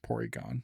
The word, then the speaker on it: Porygon: Because of how they pronounce Rs. Porygon.